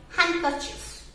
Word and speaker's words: handkerchief: तो हैंडकरचीफ में से भी आपको डी को भगाना है.